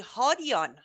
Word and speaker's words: Hadian: correct pronunciation for Shahram's last name is actually Hadian. Really? He has made the ultimate sacrifice to make it Hadian. It's Hadian, the correct pronunciation.